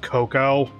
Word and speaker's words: cocoa: I think that it's still pronounced cocoa, even though it has the A on the end.